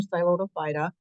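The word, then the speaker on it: Psilotum: from the different phm so the p is silent phm siloto and there's only two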